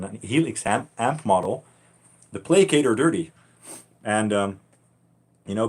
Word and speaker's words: Placator: Helix amp model, the Placator Dirty. And, you know, because of my Dutch language, I pronounced it placider or something.